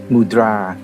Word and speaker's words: มุทรา: ต่อ มูรา กัน ครับ มูรา ผม ขอ ออก เสียง ตาม ภาษา สันสกฤต เนื่อง จาก ต้องการ ที่